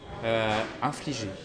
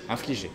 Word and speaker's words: infliger: Infliger.